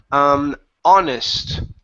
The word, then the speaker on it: honest: Next up here is honest. Okay. So instead of honest, okay, the H is silent.